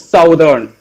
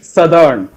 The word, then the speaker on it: southern: We are just reading this words southern, but it's actually southern. Its spelling comes as SUTHERN. This is the pronunciation spelling. I think hope you know the spelling of southern, but it's pronounced as southern.